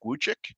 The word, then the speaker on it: Wujcik: Correct me if I'm pronouncing this incorrectly, but Eric Wuchik. Yeah, Eric Wujcik, that's correct. Wuchik, and he was just